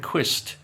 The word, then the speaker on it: Quist: Now, Adrien Quist to rhyme with pist was an Australian tennis player from uh during the 1930s to the 1950s.